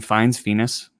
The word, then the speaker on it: Fiennes: Fiennes.